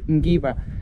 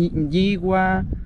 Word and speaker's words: Ngigua: Por eso nosotros en Biofan siempre decimos mal llamado Popoloca, porque para nosotros el nombre correcto es el Enguigua. Pero algunos pueblos lo dicen Enguigua, porque es muy difícil de pronunciar, son una serie de consonantes juntas.